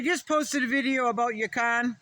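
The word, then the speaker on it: yacon: But I just posted a video about Yakan or that's how I pronounce it. Y A I C O N.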